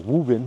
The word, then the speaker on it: Woburn: And then we hit the road and we drove up to Woburn, or Woburn as it's pronounced up here, and did a day trip into downtown Boston.